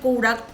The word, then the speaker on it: কৌড়া: দেখা যাচ্ছে এইরকম দানাযুক্ত সিম নিতে হবে এই কৌড়ার জন্য এবারশিমটা দিয়ে একটু নাড়াচাড়া করে নুন আর হলুদ গুড়ো এটা উচ্চারণটা আসলে সিম কৌড়া মানে ড নর কিন্তু